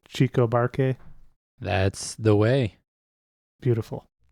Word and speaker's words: Chico Buarque: Chico Buarque?